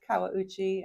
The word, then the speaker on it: Kawauchi: I'll have her say her last name because I cannot pronounce it. Hi, I'm Kawauchi.